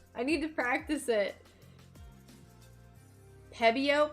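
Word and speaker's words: Pebeo: Pebbio. Pebbio. It's a P E BO. I like looked up how to pronounce it earlier and then I keep forgetting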